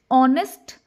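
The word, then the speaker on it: honest: तो ऐसे ही हमारा जो एक साइलेंट लेटर है एच ये कई बार क्या होता है? साइलेंट हो जाता है। यानी इसका जो कसोनेंट साउंड है वो क्रिएट ही नहीं होता। इंस्टेड ऑफ़ दैट इसका जो साउंड हम सुनने में आता है ओ। जैसा कि अभी मैंने आपको बताया था ऑनेस्ट ऑनर आर। ठीक है? तो यहां पे ये जो साउंड है एच ये साइलेंट हो गया।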